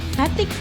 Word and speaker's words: batik: Batik, yeah.